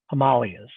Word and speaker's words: Himalayas: But the reality is what you see beyond New Delhi in the background are I'm told the correct pronunciation is the Himalayas.